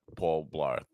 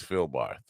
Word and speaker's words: Phil Barth: Phil Barth is not Paul Blarth, but well, I'm old. What could I say? It's just a little bit of a difference in my view in the pronunciation of that, but it's not Paul Blarth. It's Phil Barth.